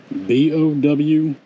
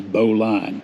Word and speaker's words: bowline: B-O-W-L-I-N-E. Now it sounds like it would be pronounced Bowline. It is not. Do not let anybody tell you that it is Bowline.